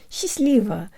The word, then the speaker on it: счастливо: I'm Kira and today you'll learn how to pronounce the word she's leave an informal farewell something like have fun together